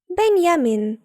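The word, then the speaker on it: Benjamin: Якщо німецькою говорять, наприклад, про Бенджаміна Франкліна, то скажуть Бенджамін Франклін. Але якщо мова йде про німця, то вимовляємо це ім'я німецькою. Бенямін.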